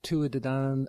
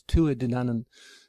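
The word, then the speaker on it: Tuatha Dé Danann: Yeah, we've got incredibly early sources for the Tuatha De Danann, or Tua De Danann. I pronounce it the English way. I should pronounce it the Irish way, is Tua De Danann.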